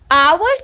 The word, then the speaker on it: hour: But our's pronunciation, although we write our as H-O-U-R, but its pronunciation starts with R.